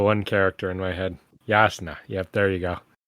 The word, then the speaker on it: Jasnah: Also, it's pronounced Yasna.